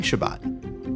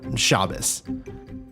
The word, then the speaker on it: Shabbat: Maybe you've heard of Shabbat before, or maybe this is your first time keeping Shabbat, or Shabbos. However you pronounce it, it's almost as old as the universe itself.